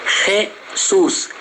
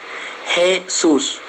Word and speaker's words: Jesús: La J, a J tem som de G. Ja, G, Ji, Jo, Ju. Então sonaria Jesús, G. Jesús.